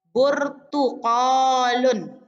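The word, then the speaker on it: بُرْتُقَالٌ: Kosakata yang kedua, nah jadi tolong diperhatikan cara pengucapannya. Nah, burtuqalun ya. Burtuqalun.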